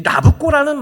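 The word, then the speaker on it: Nabucco: 이 나부코라는 말은 사람 이름이에요. 느부갓네살을 로마식 이름으로, 이태리 발음으로 하면 나부코예요.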